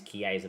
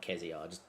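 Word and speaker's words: Kerkez: It is Kaza by the way, not Kza.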